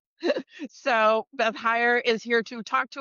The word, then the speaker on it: Heyer: Hire like because it depends on where in Germany the family came from as to how they pronounce it. So Beth Hire is here to talk